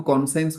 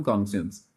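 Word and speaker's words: conscience: ऑफ yes crisis offence ताको कॉसेंस कहा जाए नहीं ओके ता क्स जाए प्रॉपर प्रोनाउंसिएशन कॉन्सेंस तो क्राइसिस ऑफ कॉन्संस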